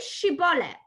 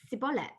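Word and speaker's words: Shibboleth: to him well then say she bollocks and they would say Cibola because that was just how in their tongue they could pronounce the word and if that happened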